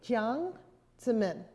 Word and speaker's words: Jiang Zemin: Jiang Zemin.